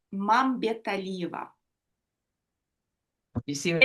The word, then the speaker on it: Mambetalieva: It's Mambetalieva. You see what It's I'm a saying? mouthful, I know, and I didn't change it on purpose. I wanted everybody to struggle with it. Mambetalieva.